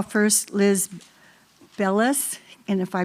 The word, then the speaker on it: Bellis: Uh Miss Belza, did I say it right? Bellis.